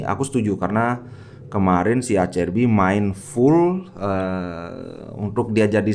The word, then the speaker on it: Acerbi: Oke, sebelum kalian mengejek itu ngomongnya Acerbi. Menurut pelafalan Itali itu dibaca Acerbi. Kalau Acerbi itu kayak gaya English gitu.